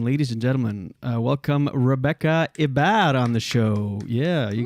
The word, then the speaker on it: Hebert: I'm English, but it is a French last name, but I pronounce it Hebert. Okay. But in French, it's Hebert. Okay. That's what Julien was saying, and I was saying Hebert. So that's not right. Well, it's not wrong, but it's, yeah.